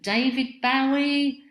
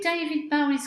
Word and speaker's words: David Bowie: sarah my first question david bowie david bowie david bowie yeah he pronounced it that way because he got his name from um jim bowie who was some american